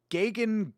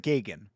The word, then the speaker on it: Gagan: I'm going to pronounce it Gagan. That also not great, but better than Gagen.